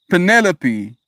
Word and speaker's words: Penelope: It's like the names Calliope, Penelope, Persephone. The accent is one of the second syllables and the final E is pronounced. Hyperphony. Persephone. Sorry. Penelope.